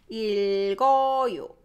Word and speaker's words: 읽어: And now when you pronounce it, 일, and the second one is carried away, carried by this 이응. So 읽어, 읽어. Same thing. this is pronunciation, this is spelling, 읽어.